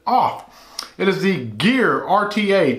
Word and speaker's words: OFRF: this they tell me the r is silent and you do pronounce it off it is the gear